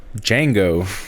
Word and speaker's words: Django: c or x aq my name is django the d is silent yeah django the django duh that